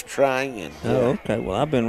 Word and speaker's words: Trion: twice today's training it's trying okay well I've been wrong for yeah you've chosen yeah that I've had a couple of texts it's T ry I in try in is how it's pronounced alright I learned something